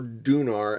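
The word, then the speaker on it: Donar: All right, we finally made it down to Thor or Dunar as he's pronounced in German, the thunder god.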